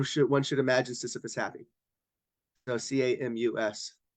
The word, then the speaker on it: Camus: So Camus. Camus, but he's French, so you don't pronounce the S.